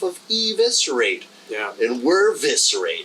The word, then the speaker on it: Viscerate: so the pronunciation so I hear a lot of people say viscerate and it's viscerate viscerate yeah you smoke a cigarette